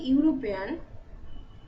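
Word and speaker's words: European: এখানে দেখি ইউরোপিয়ান, এই ইউরোপিয়ানে কিন্তু ই এর উচ্চারণটা হচ্ছে না, ইউ এর উচ্চারণটা হচ্ছে। ই যদি আমরা বাদ দিয়ে দিই তাহলে ইউরোপিয়ান, ইউ এর উচ্চারণ হচ্ছে, তাই জন্য আমরা আগে এ বসাচ্ছি।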